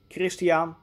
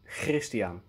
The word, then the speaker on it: Christiaan: So to recap, the complete first name is pronounced either Christiaan or Christiaan.